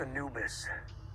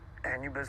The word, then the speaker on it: Anubis: ship's called the anubis ah the anubis it's pronounced anubis egyptian god of the dead okay his eyes say a lot anubis works too right so the crew of this